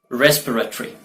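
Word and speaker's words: respiratory: रेस्पिरेटरी, रेस्पिरेटरी या रेस्पिरेटोरी।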